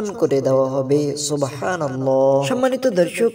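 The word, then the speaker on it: سبحان الله: গুনাহ মাফ হয়ে যাবে শুদ্ধ করে উচ্চারণ করতে হবে আমরা অনেকেই অশুদ্ধ ভাবে উচ্চারণ করি বলি সুবহানাল্লাহ সুবহানাল্লাহ নয় বলতে হবে সুবহানাল্লাহ সুবহানাল্লাহ এভাবে করে 100 বার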